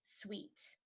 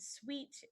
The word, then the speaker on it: suite: the next one is sweet and sweet is a an extended room or a bigger room or two rooms together in a hotel so you could say this hotel has some sweet sweets this hotel has some